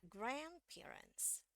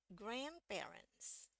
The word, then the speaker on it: grandparents: sama sekali ingat eh karena ini yang dapat tekanan lebih tinggi itu yang eh grand-nya ya grandparents grandparents Oke kalau kita hilangkan